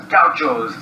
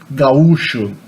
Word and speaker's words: gaúcho: But in Brazil we say gaúcho. There's a hiatus there, not an ow diphthong, so au, gaúcho.